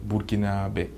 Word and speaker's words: Burkinabè: contre le pays est en fait ça se prononce burkinabè donc c disons la combinaison des trois langues